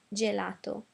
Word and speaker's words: gelato: brand is mar now g g follow the same pattern as the c i c e so we had CH over here and now we're going to have g j and some examples are gymnastica gymnas sticks and gelato uh again following the